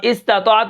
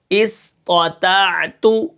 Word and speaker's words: استطاعت: حمزہ سین زیر اس، طا زبر طا، اسطع، طا، طا زبر طا، اسطع، طا زبر طا، اسطع، تا عین زبر تا، استطاع، تا پیش تو، استطاعت، وقفاً استطاعت، ٹھیک ہے۔